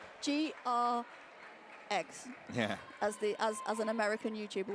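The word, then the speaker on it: Greggs: Rhymes with legs. GR eggs.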